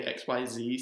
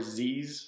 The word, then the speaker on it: XYZ: Zexal, they call it, I think it's, you can pronounce it either way, XYZ summoning or Z's summoning, which is just a pronunciation of XYZ, Z's summoning.